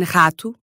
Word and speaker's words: rato: But in other spots, it sounds like a uvular R, r, specifically at the beginnings of words. As in rato.